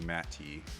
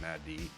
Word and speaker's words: Matty: Yeah, you can kind of pronounce it either way, but I figure since the origin is Matilda, it should be Matty and not Maddie.